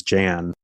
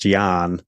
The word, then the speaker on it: Jan: it's even better because my middle name is Jan if you from America but in Dutch it's pronounced Gian so it's like John yeah but been the